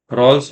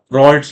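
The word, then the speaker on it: Raoult: रॉल्स लॉ या रॉल्ट्स लॉ, जो भी बोलना है बोलो, स्पेलिंग याद रखना।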